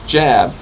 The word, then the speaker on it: Jab: in the realm of I keep on pronouncing his name wrong. It's Jab. I've called him Job.